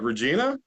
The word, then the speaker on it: Regina: there to do in Regina and I'm like Regina I mean I was kind of surprised they